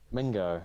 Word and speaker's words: Mingo: why you sa this his name rhymes with key Ringo oh yeah I can't remember his name but Ringo yep no no not Ringo Mingo joning Jonathan Mingo my